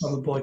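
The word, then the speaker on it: Grabovoi: Grabavoy. Can you spell that, please?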